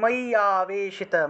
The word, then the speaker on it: ময়্যাবেশিত: করতে হবে আর কি, কারণ এখানে অন্তস্থ জও আছে আবার অন্তস্থ জফলাও আছে, সেজন্য এখানে ইও উচ্চারণটা 2বার চলে আসতেছে, সেজন্য একসাথে আমরা ইওটাকে একটু টান দিয়ে উচ্চারণ করব, ময়্যাবেশিত চেতসাম, ময়্যাবেশিত চেতসাম